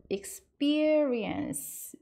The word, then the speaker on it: experience: 한 것 같은데 experience 요것도 xp보다 experience 약간 b 발음으로 하시면 좀 더 정확해요. ex가 x 이런 발음 나고요. pe가 peer 이렇게 발음 나고 rien 해서 끝에 ce는 experience 이렇게 발음하시면 됩니다.